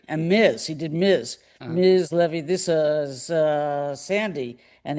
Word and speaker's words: Leavy: Welcome to Baseball BBQ, Jane Levy. Welcome, Jane. Bless you, Jeff Cohen. Isn't it funny? Jeff Cohen mispronounces your name.